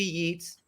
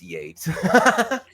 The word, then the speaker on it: Yeats: The first being, oh, wait, it's Yates, not Yeats. Right. I'm talking to an artist, and, well, W.B. Yeats up there. It's Yates.